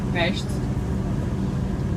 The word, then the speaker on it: Pest: Actually, the right pronunciation of this side, we pronounce it with an S, Pest. As far as I know, you have a word what you pronounce, you say pest. That's something different.